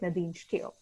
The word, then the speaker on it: Nadine Steele: I actually asked Nadine how to pronounce her name just before I started, so hopefully I'm saying it right, Nadine Steele.